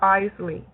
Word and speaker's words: Isley: Am I pronouncing your name correctly? Um, it's pronounced Eley.